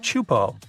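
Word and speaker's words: Teahupo'o: It's pronounced Chupo, and it means broken skulls in Tahesian. Yeah, you heard that right, broken skulls. The waves at Chupo are massive and can reach up to 23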